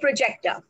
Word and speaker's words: project: And if I put it, it's the first syllable. If I put it on the first syllable, P-R-O-J-E-C-T, that is project, that means a proposal, a school project or a business project.